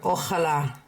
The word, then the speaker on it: Ojalá: The accent is on this syllable, on this letter, which means I need to say that syllable the loudest. So I'm not going to go ojalá. Okay, that would be putting it here.